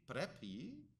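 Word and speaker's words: πρέπει: And I realized, and I asked her, and I got this right, that in contemporary Greek, you would say prepi, right, which is just a contemporary way of pronouncing the word, in a context where your grandmother orders you to do something.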